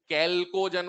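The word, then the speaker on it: chalcogen: अब बोलो, कैल्कोजन बोलते हैं इसको ना, चैल्को नहीं बोलते, स्पेलिंग याद कर लो भले, चैल्को से, इसका एच साइलेंट है, इसको बोलते हैं कैल्कोजन।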